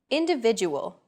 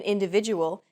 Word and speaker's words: individual: Individual. The stressed syllable vi in individual is deemed more important, so it's pronounced longer than all other syllables.